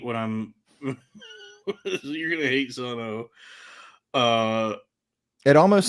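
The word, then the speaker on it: Sunn O))): know okay so yes it's not son o it's just son but it's spelled Sun s n n o parenthesis parentheses parenthesis so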